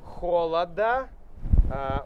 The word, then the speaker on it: холод: произнести здесь the record холода можете посмотреть холод холод холод мы меняем на т но холода холода так как есть гласное мы не меняем звук здесь остается до холода холода отлично рекорд холода было минус семьдесят семь